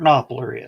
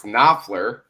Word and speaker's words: Knopfler: You know who Mark Knopfler is? I know. Yeah, You're pronouncing it wrong. It's Knopfler. Knopfler, whatever. Knopfler with an F.